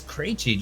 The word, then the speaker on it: Krejci: She goes, it's Krejci, like crazy.